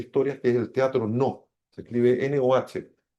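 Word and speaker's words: Noh: 600 años de historia, que es el teatro No. Se escribe N-O-H.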